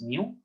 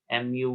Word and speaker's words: mu: which are mu and sigma so it is pronounced as mu mu mu it is written like this the left